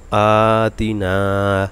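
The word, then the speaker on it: آتِنا: আতিনা, দেখুন 3টা উচ্চারণে 2টা টান হবে। আ খারা জবর, মদের হরকত, মদের তবাই বা মধ্যে আসলি, জবরের বাম পাশে খালি আলিফ, মদের হরফ, 1 আলিফ টান দিতে হবে।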